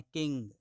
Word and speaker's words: king: जैसे इंग्लिश बोलें, तो ग पे कभी भी जोर नहीं देना है। किंग, है ना, किंग नहीं, किंग। ग को डाउन करिए।